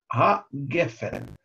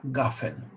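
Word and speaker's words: גֶּפֶן: Такие слова имеют ударение на предпоследний слог. Но иногда, значит, в конце фразы ударный сегол меняется на камац. Поэтому некоторые произносят благословение «бреприга гафен».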